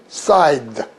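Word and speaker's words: scythe: 앞에 건 발음하지 말자. 그래서 side 이렇게 된다면 side 그러면은 뭐 긴 낫이다.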